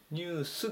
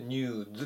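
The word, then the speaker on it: news: にしたでこれニズていう風に発音しますねニュースではなくてニューズです知らせとか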